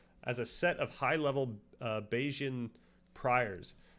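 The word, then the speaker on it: Bayesian: a set of highle beijian priors. Is that how to pronounce this or do people go crazy with this? I should know this. It's just basian.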